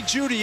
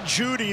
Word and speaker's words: Jeudy: Jerry Jeudy, the E is silent.